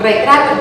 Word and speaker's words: retrato: Retrato es como una R, pero cuando ya va junta, ya compuesta, vocal, al inicio y al final suena fuerte R, retrato, doble R.